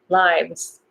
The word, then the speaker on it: lives: Sounds like S, but I think it's supposed to be Z. So lives, lives, lives. So try to pronounce it Z.